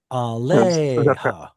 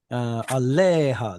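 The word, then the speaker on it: עָלֶיהָ: The stress in a word like this is always on the penultima. Aleha. Zaka, something. Zark, is it Zarka? Okay. Aleha, that should be the stress syllable.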